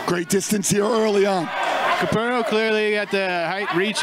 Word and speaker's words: Capurro: Capurro. Double R, roll it.